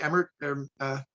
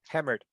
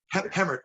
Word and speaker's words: Hemmert: Terry Emmert. Hemmert. Hemmert, I'm sorry.